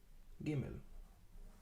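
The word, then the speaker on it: גימל: Just the Gimel by itself is G.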